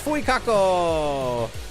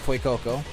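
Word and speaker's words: Fuecoco: Hey, it's Fu Kako. Some people pronounce it fuoko and they are crazy.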